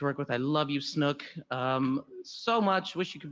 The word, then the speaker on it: Snook: Fun fact, Snook's last name is actually pronounced Snook, but I just can't do that, right?